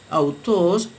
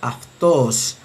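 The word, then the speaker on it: αὐτός: Autos, según la pronunciación erasmiana, autos, pero según la pronunciación reocliniana debe leerse aftos. Aftos.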